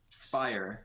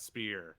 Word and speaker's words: Spier: Spire. Spear. Yes, Spear. It's not Spear. Spire. Okay, Spear. No, it's like Spear, like the thing that you throw and kill bear with the Michigan mascot bear, you know.